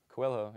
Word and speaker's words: Coelho: Coelho, yeah.